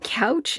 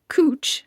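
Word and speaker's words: couche: off of Amazon uh it looks like couch sheets but it's actually pronounced cooch see cooch um and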